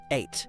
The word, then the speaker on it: eight: This one is spelled very weirdly in English, but just say ate. Ate like I ate a pizza. Yes, it sounds exactly the same.